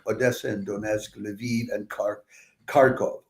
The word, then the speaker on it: Kharkov: and Donetsk, Lviv, and Kharkov. Although some people, I think, pronounce it Charkov these days.